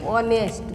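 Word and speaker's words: honest: যেমন dash অনেস্ট, অনেস্ট আমরা লিখেছি হনেস্ট, কিন্তু আমরা বলার সময় আমরা সেটাকে বলি অনেস্ট। বাংলায় যদি আমরা লিখি তাহলে এটা হয় অনেস্ট, অনেস্ট। আমরা ও থেকে শব্দটা উচ্চারণ করেছি, কিন্তু লেখার সময় টিকে এস যুক্ত করেছি।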